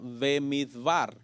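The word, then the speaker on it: במדבר: Y este libro en el original comienza con esta palabra, Bemidbar, que se pronuncia como una sola palabra porque se ponen ambas juntas, pero en realidad quiere decir en el desierto.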